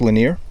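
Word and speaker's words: Lanier: Thomas the linear Williams I think that's pronounced linear but you probably know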